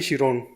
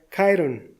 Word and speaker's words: Chiron: Entonces, si el término es griego, la pronunciación sería Chiron.